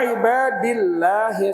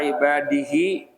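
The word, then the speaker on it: عباد الله: Kemudian waa ibadillahi shihin bacanyaalah waa ibadillah. Jangan inilah waa ibadihi. Jangan ibadii ibadillah pakai lafaz Allah wa ibadii waa ibadillahi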